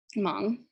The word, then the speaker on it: Hmong: thailand and myanmar and the h is silent in this example hmong they are mostly known